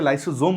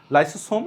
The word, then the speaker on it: lysosome: অনেকে এটাকে লাইসোজোম উচ্চারণ করে। ওটাও ভুল না। লাইসোসোম এটাও ভুল না। যেকোন একটা উচ্চারণ করলেই হয়। তবে মনে রাখবে লাইসোম আর লাইসোজোম একই জিনিসই। দুরকম করে উচ্চারণ করা হয়।